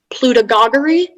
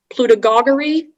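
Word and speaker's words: plutogoguery: information again so there are three possible pronunciations some of them to slight variance pluta gagari pluta gagari pluta gogori and plutagri it's a noun made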